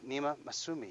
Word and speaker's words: Nima Massoomi: Nima Massoomi. Thank you, John. Is that the right way to pronounce it?